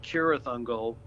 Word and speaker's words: Cirith Ungol: It's actually pronounced with a K, like Cirith Ungol.